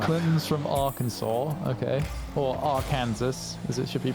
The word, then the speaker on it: Arkansas: Or Arkansas, as it should be pronounced.